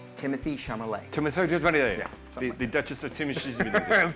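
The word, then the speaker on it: Timothée Chalamet: It's pronounced Timothy Chalamet.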